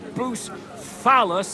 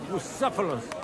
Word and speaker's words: Bucephalus: What kind of name is Bruce Phallus, anyway? It's pronounced Bucephalus, which cuts.